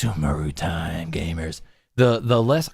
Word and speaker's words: Sumeru: to be kidding me it's not suu it's sumaru and then we we